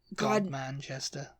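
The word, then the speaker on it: Godmanchester: it before but I don't remember how to pronounce it God Manchester God God monster I'll say like monster cheese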